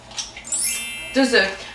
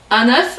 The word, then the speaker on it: œuf: 2 œufs. Remarquez que la prononciation des œufs, un œuf avec F, un œuf, 2 œufs.